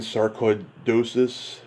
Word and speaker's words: sarcoidosis: So going back to this disease you struggle with, how do you pronounce it again? Sarcoidosis?